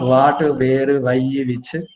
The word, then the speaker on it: water: has the letter w we have to pronounce that with round lips so it's not water what where why which when i want a glass of water water it is water all right now